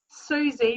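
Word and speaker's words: Siouxsie: Susie, but it's spelt like the Sioux Nation with S-I-E at the end, Wiles, W-I-L-E-S.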